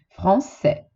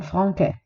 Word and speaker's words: Français: Quindi trasforma K in S. Français e non franquais.